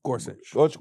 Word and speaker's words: Gorsuch: Gorsuch Gorsuch from getting Wait he held he held